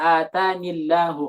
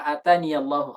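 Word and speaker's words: آتاني: Jadi ada ikhtilaf di sini. Ada yang membaca fama atanillahu khairun. Ada yang baca seperti itu. Ada yang baca fama ataniyallahu khairun. Fama ataniyallahu khair. Kita dari Hafiz membacanya fama ataniyallahu khairun, pakai iya.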